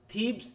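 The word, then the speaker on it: Thebes: থিবিস না, কিন্তু অনেকে বলবে থিবিস, তাই তো? দেখি প্রোনাউন্সিয়েশন দেখো, ফাইসি, এ দেখো থিবস, হ্যাঁ থিবস, মনে থাকবে? দেখো থিবস, হ্যাঁ থিবস, হ্যাঁ এটা একটু খেয়াল রাখো, থিবস।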